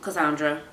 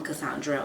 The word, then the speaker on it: Cassandre: so it's constant and usually I tell people like to pronounce it the creole way the haitian way which is Kai and then just some straight son whereas in French it's like more pronounced and the D and R and everything at the end so that's my name